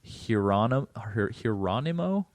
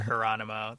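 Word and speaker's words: Hieronymo: The Sam Hieronimo takeover, I believe is the way to pronounce that. That's how I do it. Like Geronimo, but Hieronimo.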